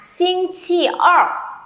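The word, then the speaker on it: 星期二: mình sẽ có là xin chi ơ. Rồi, âm gì đây? À, vẫn mẫu uốn lưỡi đúng không nào? Đọc lại với cô nhá. Ơ, không đọc là a, ok. Tròn miệng lên.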